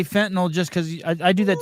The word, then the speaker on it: fentanyl: my wife, is that people pronounce that drug like it's an alcohol with an NOL. It is NYL. It is fentanyl. It is not fentanyl.